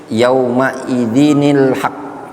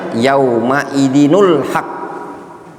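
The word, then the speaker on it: يَوْمَئِذٍ الْحَقُّ: Nah karena dia tidak ngerti ada tanda nun, akhirnya dia baca yauma idzinul haq.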